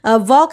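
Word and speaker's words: walk: दिक्कत होता है कि वॉक है तो जाहिर सी बात है डब्ल्यू ए के लोग सोचेंगे पर यहां पे ड ए एल के है जबकि एल का उच्चारण होता ही नहीं है ठीक है तो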